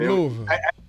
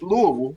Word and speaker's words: Louisville: Yeah, you moved to Louisville. It's Louisville, not Louisville. Louisville. It's Louisville.